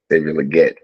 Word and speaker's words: Legette: legit is that how you say his name Legette Legette all right so um I think this